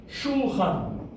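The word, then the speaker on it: שולחן: So the second syllable is chan. Shulchan. Shulchan, the Hebrew word for table. Shulchan. You hear the quick oo sound over there.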